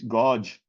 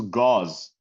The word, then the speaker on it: gauze: So Alfz, why did you say godge? This is gauze.